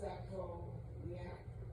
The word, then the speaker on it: sacroiliac: It's pronounced sacroiliac.